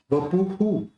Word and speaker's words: वपुः: विप्राजते तव वपुः, अब यहाँ पे भी इसका उच्चारण कैसे निकलेगा? हु निकलेगा, इसका उच्चारण हु होगा, वपुः, है ना? क्योंकि पू के बाद ऊ रहा है, तो ह के अंदर भी ऊ जोड़ना है, तो हु।